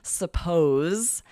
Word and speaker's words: suppose: First of all, with that Z sound, Z, suppose.